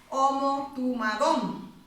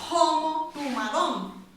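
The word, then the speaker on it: ὁμοθυμαδόν: No sé si se pronuncia homotumadón. En alguna salía con J, homotumadón. Yo creo que es con H. Porque homo significa mismo. Y tumos es mente.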